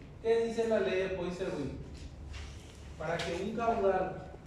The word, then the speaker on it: Poiseuille: Difícil es pronunciar su apellido. Poiseuille.